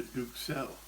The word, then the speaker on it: duxelles: When you have an excess of minor royalty, you have a Duxelle. And that's a better pronunciation.